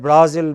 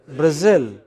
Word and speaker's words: Brazil: of spain okay so in english it is pronounced not as madrid but as madrid not at berlin but berlin not at brazil but brazil very erratic you know look